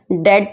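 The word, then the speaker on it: debt: रिड of this डेट डेट में बीच silent है इसलिए इसे खोलेंगे डेट तुम्हें इस बुरी संगत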